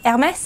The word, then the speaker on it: Hermès: Deborah has got this thing about pronouncing that handbag brand that begins with an H. Hermès. How's it said? Hermès.